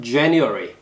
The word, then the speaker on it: January: J 발음은 입술을 말아서 앞으로 쭉 내주세요. January. 그리고 아주 어려운 단어.